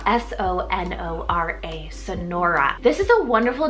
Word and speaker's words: Sonora: was sent in is the name Sonora spell s-o-n-o-r-a Sonora this is a wonderful name if you